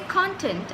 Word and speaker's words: content: which is basically content so when I say content I'm stressing on the first part of the word which is content content means what is